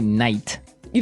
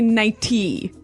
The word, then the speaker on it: nightie: But you don't say night. You don't say nighty. You say nighty. Yeah, you make the T a D.